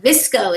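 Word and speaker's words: VSCO: Next one, Visco is how you say that.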